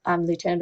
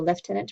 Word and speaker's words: lieutenant: And foreign words are considered challenging, so a word like lieutenant or lieutenant, depending on your pronunciation, and nonchalant.